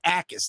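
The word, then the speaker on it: Jacas: Illinois edge rusher Gabe Akis. Now, if you were looking at his name, it looks like Jackass because it's got a J in it, but the J is silent.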